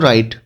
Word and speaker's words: write: लिखने को कहते हैं बच्चों राइट, WRITE। तो बच्चों जहां आर से पहले डब्लू आए तो वो डब्लू नहीं पढ़ा जाता।